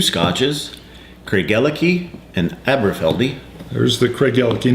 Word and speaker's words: Craigellachie: Today we're going to be reviewing Craigellachie, which is the Kansas pronunciation, and this beautiful collector's box, which actually has 2 scotches in it.